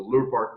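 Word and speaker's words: Lurpak: Just call it Lure Park. Lure Park. That's the Danish way of pronouncing it.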